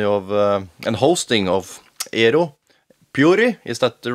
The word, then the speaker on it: Pöyry: It's the Finnish pronouncing is Pöyry. Pöyry. Pöyry. There's a Y in the end.